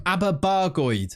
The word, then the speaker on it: Aberbargoed: There's also Thomas Evans, this bizarre case of this Welshman that came through in our youth intake from Aberbargoed, as I'm reliably told how that's pronounced in the comments.